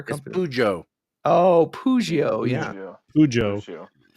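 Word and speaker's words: Peugeot: Bojo oh poio yeah pujo croak says pujo hop says Persia and I know Hop's wrong so so I'm gonna go with pujo I say I did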